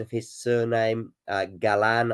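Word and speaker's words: Galán: Galan, I think, is the name, and of the emphasis, I believe, being on the 2nd syllable from Colombia.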